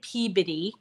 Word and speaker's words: Peabody: Um it's it's spelled Peabody but we say Peabody.